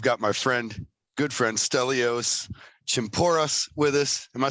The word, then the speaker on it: Chimpouras: I feel like every time I say it, I feel like I get it right every time, but I always feel like I want to put one or two extra syllables in it. I think everybody. Chimpouras.